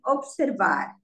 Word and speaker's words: observar: In English, we say observe, but here we say observar. The stress is on the last syllable because it ends with an R. But when you conjugate it, the stress shifts to the before last syllable.